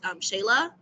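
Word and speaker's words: Xela: But they said that the short term was Shayla with an X, X-E-L-A, Guatemala.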